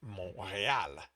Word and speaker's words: Montreal: But anyway, it's Mo, the T is silent, and real is with an accent on the E, real. So it's Montreal.